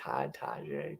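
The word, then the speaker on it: Tajae: Spears or Taj Spears tajai T Taj Taj Taj is how you pronounce that and first and 10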